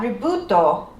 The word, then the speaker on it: Ribut: So apparently, from what I'm reviewing here, is that Ributo, how they say it in Japan, was created by a joint collaboration with Les Kopake Productions, the creator of Upin and Ipin, and Subaraya.